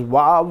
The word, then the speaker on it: Waaw: and it says waaw in english how to pronounce it so it is Wow from the sort of light and this is